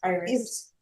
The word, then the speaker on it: Iris: Is it Iris or Iris? It's Iris. Iris? Iris in Spanish, but it's Iris.